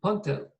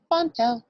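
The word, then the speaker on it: P'ntl: He also spelled it for me, P'-N-T-L, and he said the apostrophe is a mark that means you puff your lips when you pronounce the P.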